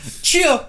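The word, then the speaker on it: Tchia: So let's just move on to the next thing, which is Chia, but spelled with a T. Chia. Chia. Yeah, we just kept saying Chia.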